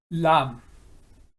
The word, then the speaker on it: ላም: Lam. In Amharic, it means cow, and lamb in English, it is a totally different word, and we are taking here the homophone, or the fact that they are pronounced similar or same way, lamb and lamb, but cow and attack,